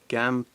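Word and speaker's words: Gambatte: Gambat. I'll pronounce it right one day.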